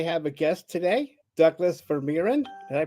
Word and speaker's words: Vermeeren: I have a guest today, Douglas Vermeeren. Did I pronounce that correctly?